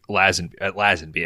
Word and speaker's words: Lazenby: Like you get George Lazenby actually is a proper pronunciation.